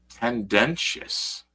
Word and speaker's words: tendentious: And tendentious. That's how you pronounce Tendentious.